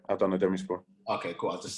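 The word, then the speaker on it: Adana Demirspor: Is it Adana Demaspor? Demispor. Yeah, Adana Demispor.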